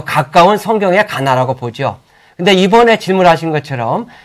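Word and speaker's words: Qana: 정말 더 가까운 성경의 가나라고 보죠. 근데 이번에 질문하신 것처럼 이 레바논 지역에도 가나가 있어요. 뭐 정확한 발음으로는 이제 카나라고 그러는데 그쪽에 가보면 자기네 지역에 있는 가나가 예수님이 기적을 베푼 곳이다.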